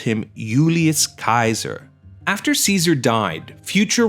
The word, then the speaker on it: Julius: Moreover, J's were pronounced as Y's. So to pronounce his name the way he would have said it, you wouldn't have called him Julius Caesar, you would have called him Julius Caesar.